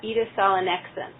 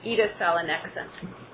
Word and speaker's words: edasalonexent: Um, we are pronouncing it, uh, Edith Salanex. Um, so with the accent on the first syllable and the next syllable. So, Edith Salanex. Edith Salanex.